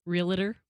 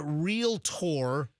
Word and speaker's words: Realtor: like the the realtor, they say a real tour. They like emphasize the tour. You ever hear someone say it with three syllables? Realer. A realer. Real. Yeah. Uh this is a real tour up in the villages